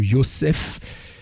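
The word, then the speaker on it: יוסף: Nous avons vu pour Yosef, hein, le P à la fin se prononce F.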